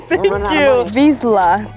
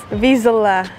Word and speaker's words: Vizsla: Vizsla. You gotta get this one right. She's right there, right? I got this. Vizsla.